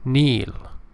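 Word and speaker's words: kneel: Hall uh word six Neil remember K is not pronounced it is silent like knife let me give you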